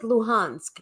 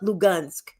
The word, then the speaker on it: Luhansk: And pronounce it Luhansk, not Lugansk, the Russian way.